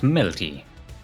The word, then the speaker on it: mLty: mLty is pronounced melty.